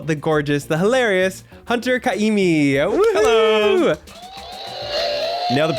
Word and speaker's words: Ka'imi: We have the wonderful, the gorgeous, the hilarious Hunter Kaimi. Hello. Nailed the pronunciation, by the way.